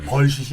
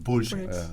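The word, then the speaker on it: bullshit: 불셋이라고 발음. 불셋. 아유 발음 정확하십니다. 벌시이 아니고 불셋.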